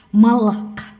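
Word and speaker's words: מלאך: malaikat itu dalam bahasa Ibrani itu malak malak ya dibacanya seperti itu dan secara harafiah artinya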